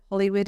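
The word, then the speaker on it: Holywood: it is Hollywood and we were there before Hollywood in America but our one's only spelled with one L so um but it is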